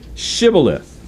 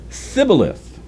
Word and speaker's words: Shibboleth: would say to him please say Shibboleth and he would say Cybil if for he was unable to pronounce it right then they seized him